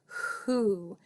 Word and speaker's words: who: we just kind of hear that H sound Who and the O is making the ooh sound like in spoon or moon but we're only seeing one o and it's at the end of the word not in the middle